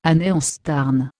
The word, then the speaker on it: Aenaeanstan: Son sacré, Aenaeanstan. Prononcé, Aneanstarn.